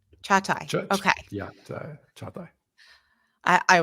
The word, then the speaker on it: Çağatay: It's Çağatay. Çağatay. Okay. Yeah, Çağatay. I will work on it. Yeah, I'm used to it.